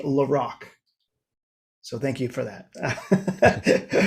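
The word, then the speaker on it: La Rocque: i was officially corrected king diamond guitarist is pronounced in the larocque so thank you for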